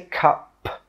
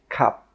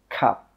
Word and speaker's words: cup: When we say this word, we stop the air with that final P sound. We don't say cup. No, we say cup, cup.